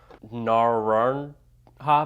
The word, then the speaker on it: Naranja: vino de nirara barrels Naran ha barrels not dark barrels I still can't pronounce this someone in the comments said the J is an H but my phonetics are terrible it comes in at